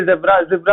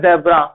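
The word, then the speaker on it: zebra: अभी आपके लिए तो z ऐसा सिंपली जिब्रा वाला है, मगर जिब्रा नहीं होता है, अकॉर्डिंग हम लोग तो बोलते हैं जेब्रा, मगर एक्चुअल में प्रोनाउंसिएशन जिब्रा है, ठीक है।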